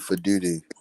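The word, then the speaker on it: Faalele: I think that Daniel Fle and Andrew Vorhees are terrorists um and should not be playing anymore. You said his name wrong. It's Daniel for duty.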